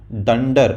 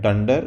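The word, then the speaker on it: dunder: और पीछे आते हैं उसको पाइथन में डेंडर मतलब उसको प्रोनाउंस करते हैं डेंडर उसका स्पेलिंग होता है डू एंड डी ए आर जिसका मतलब होता है डबल अंडरस्कोर का शॉर्ट फॉर्म है वो डंडा तो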